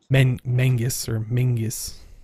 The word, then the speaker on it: Menzies: Yeah, it's old Scottish word. I think it was some clan or something like that, but it's based on their old alphabet or something like that. I think the letter was Yog. Yeah, Yog. Something like that. That makes the Z sound, or what looked like a Z. Looked like a Z. Yeah. Yeah. Made it sound like this Menzies.